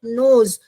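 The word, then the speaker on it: knows: रहे हैं, तो नॉलेज, नोज, वो वाला वर्ड जो है इट बिगिंस विथ के letter which is silent but you have to pronounce from the second letter onwards.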